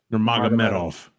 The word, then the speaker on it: Nurmagomedov: But how you pronounce his last name? Nurmagomedov.